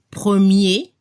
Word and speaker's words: premier: Al masculino se escucha el sonido E al final, premier, y al femenino hay que abrir la boca para la pronunciación de la última E. Y se debe escuchar la última consona R, première.